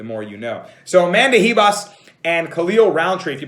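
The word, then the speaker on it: Ribas: khalil roundtree and amanda hebas reebos as you say that h you know in portuguese is actually pronounced as a the r is pronounced as an h the more you know so amanda hebas and khalil roundtree if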